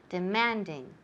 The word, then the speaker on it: demanding: Demanding. Demanding. ¿Dónde está el énfasis? En la segunda sílaba.